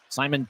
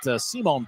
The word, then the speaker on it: Simone: will push it ahead Simon pinard or make that Simone pinard and Simone throws to The Far Side his first name is spelled s m o n and they got to